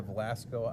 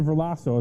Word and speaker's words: Verlasso: Is it the wild caught salmon that's back in the Velasco? Am I saying it wrong? It's the Verlasso.